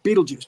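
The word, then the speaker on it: Betelgeuse: GE which is Beal Geist really but anyway Beetle Juice he pronounces it Beetlejuice and we have that pan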